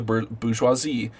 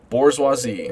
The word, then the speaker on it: bourgeoisie: Bourgeoisie, so that's how it's pronounced. Bourgeoisie. I always said bourgeoisie. Bourgeoisie? How come no one ever corrected me? It's bourgeoisie. Bourgeoisie.